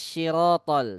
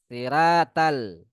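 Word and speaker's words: صراط: Ihdinas syirotol. Salah juga ya. Kemudian tol juga seperti itu ya, salah pelafalan ya. Salah pelafalan di huruf to. Harusnya to dibaca ta. Siratal.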